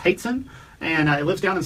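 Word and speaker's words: Hoatzin: It looks like Hotzen, but it's Haitzen.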